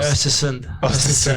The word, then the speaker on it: Östersund: And then you went into a couple of teams, and then you went into this one team, and I can't pronounce it. Yeah, Östersund.